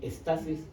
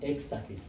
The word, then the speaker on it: estasis: eh Por si acaso Esto es así es stasis sin x no no lo pronuncien como Éxtasis Éxtasis es otra cosa cierto tiene otro significado en el caso de